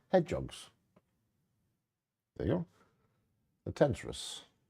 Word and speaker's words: tenrec: The Tentrus. Is that how you pronounce it? I don't know. How will you pronounce it? Tenrec. Tenrecs? Tenrecs? Tenrecs. Yeah, I'll go with your way.